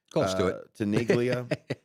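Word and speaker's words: Tinaglia: Um so the Arlington Heights mayor uh Jim uh Tanglia, is that is that how you pronounce it? T I N A G L I A. Tiglia.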